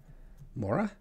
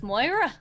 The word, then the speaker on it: Moira: Mora? I Yeah. think the name you're trying to pronounce is Moira.